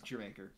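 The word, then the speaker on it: D'yer Mak'er: That's how it's pronounced. It's Jermaker.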